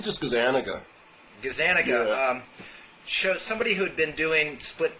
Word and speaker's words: Gazzaniga: if it was Gaza Nagas and how you pronounce his name it's just as an ago Gazzaniga somebody who'd been doing split brain experiments on